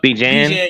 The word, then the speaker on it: Bijan: the Falcons, but how do you pronounce his first name? Is it B. Jean? Bijan, Bijan? Bijan, yeah, Bijan Okay, Robinson, BJ yeah, Bijan Robinson.